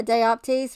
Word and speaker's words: dioptase: forrest yeah that yeah dioptase rhymes with psyop case i know that's crazy